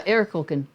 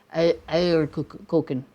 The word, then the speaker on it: Eierkuchen: Oh yeah, Eierkuchen. Yeah, okay. Yeah, it's like your tongue has to lay flat to say it properly. Eierkuchen. It's not I.